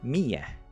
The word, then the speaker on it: med: Like MED, which means with, but it's pronounced like Mia with it, and it sounds like it has an I in there, but there's no I.